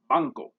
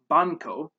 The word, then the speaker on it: banco: in english for example this sound occurs in the word banko instead of pronouncing it as banco it is farther back in your mouth and it's pronounced as banko i think this one